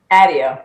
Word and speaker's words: Addeo: Addeo. Addeo. Okay. All right. Addeo. On my website, on my email signature says rhymes with Daddeo.